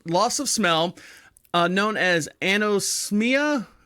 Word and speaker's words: anosmia: Lot of loss of smell, known as anosmia.